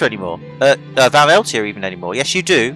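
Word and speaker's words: Van Eltia: Now that we have a base, we don't have to worry about maintaining the Vanelita anymore. Vaneltia even anymore. Yes, you do. First off, maintain its pronunciation, because I fucked it up.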